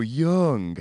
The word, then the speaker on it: Jung: you say his name is it this way Jung this way June this way Yoon or this way giraffe it's yours oh young how very snotty or should I say